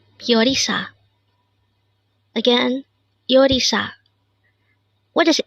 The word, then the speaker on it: 요리: YORI. This is pronounced as a two-syllable word. The first one is yo, second syllable is ri. YORI. YORI.